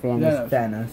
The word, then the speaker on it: Thanos: And then like a million years later, Thanos... Or Thanos, how do you say it? Thanos.